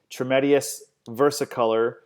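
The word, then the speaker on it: Trametes versicolor: mushroom and it's for immune support and it's pronounced tremendous versicolor well and the reason that's important is because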